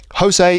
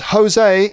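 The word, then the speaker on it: José: and hose B so Jose is a common Spanish name Jose I'm probably pronouncing it wrong but Jose sounds in English like hose a Jose so right Jose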